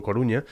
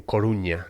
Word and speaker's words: Coruña: se ve por ejemplo la ciudad de la que yo provengo Coruña se ve como la corunna con dos nes Y tal Pero al parecer se dependiendo de quién fuese se pronunciaba también Coruña no como una ñe entonces la vírgula que